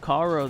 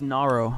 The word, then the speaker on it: Naro: sliding it right past Caro, the first defender for VIST. I'm hoping I'm saying the name right. Caro, right? Is it Caro? Oh, it's Naro. I thought that was with a K.